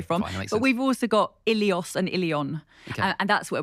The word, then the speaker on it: Ilios: And we think that that word Ilios would initially have been pronounced Willios.